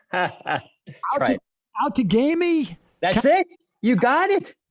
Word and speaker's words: Outagamie: And Tom, you're going to have to help me with the pronunciation. Try it. Outagamie?